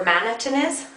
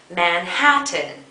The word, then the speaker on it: Manhattan: not managing he wanted Manhattan Manhattan but he had shifted to stress from the second syllable Manhattan to the first syllable Madison as a result